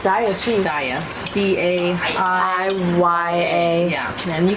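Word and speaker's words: Daiya: How do you pronounce that, Julia? I think it's Daya cheese. Daya.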